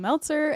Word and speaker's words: Meltzer: So if you haven't heard of me before or been to one of my workshops, hey, I'm Meltzer. It rhymes with seltzer, and I run Meltzer Seltzer.